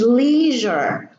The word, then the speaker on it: leisure: an S before it then the S is pronounced a measure treasure pleasure and this one is leisure and here we have the s and the